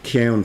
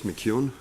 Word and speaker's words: McKeon: next i'd invite kion to the table please good morning thank you for um joining us uh monica do you want to correct you on pronouncing of my last name it's mckeon sorry i've got a